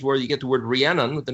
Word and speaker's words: Rhiannon: But I'm just saying the word's pronounced Rhiannon, like Stevie Nicks, Fleetwood Mac, that song is a leafy tree, where they performed their harlotries of worshiping other deities.